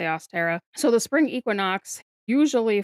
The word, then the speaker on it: Ostara: So or Aara, however you prefer to pronounce it. I say Austera.